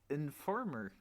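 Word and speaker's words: enforme: I think they actually pronounce the E's at the end of the words.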